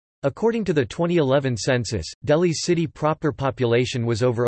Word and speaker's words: Delhi: Delhi, Hindustani pronunciation, Delhi, Delhi, officially the National Capital